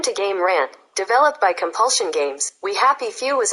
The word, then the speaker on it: Compulsion: What games were made by Compilation Games? Or, I said it wrong, it's Compulsion.